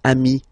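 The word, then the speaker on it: amis: so singular form Ami plural form you add this s but it's Ami as well okay in that case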